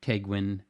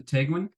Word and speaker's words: Tegwen: I kind of introduced myself to Tegwen. I looked up how to pronounce her name properly, which it sounds like You got looks. It sounds like it looks.